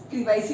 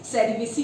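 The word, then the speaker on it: cerevisiae: तो सैक्रोमाइसिस क्रीवाइसी भी बोलते हैं, कुछ सेरिवेसी भी बोलते हैं, वैसे करेक्ट प्रोनाउंसिएशन जो है सेरिवेसी है, ठीक है ना।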